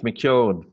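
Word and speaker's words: McKeown: sure you get it this too it's it's McCune but don't worry too much about it I've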